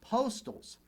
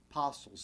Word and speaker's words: Postles: time to mention that you may hear his surname pronounce postals but chances are talk to a battlefield guide up at gettysburg he's going to refer to him as james park apostles so for the purposes